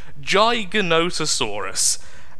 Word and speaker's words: Giganotosaurus: pronounce as always but apparently that's how it's pronounced according to several documents a film and the Oxford dictionary Giganotosaurus and it is fantastic this thing is phenomenal